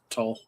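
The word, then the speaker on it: Tolle: Uh to I think it's Payton toll. Just just just toll.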